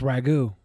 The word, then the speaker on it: ragout: From tonight's episode, King Cobra made a burrito using spiced squid in ragout sauce, which I guess is pronounced ragu.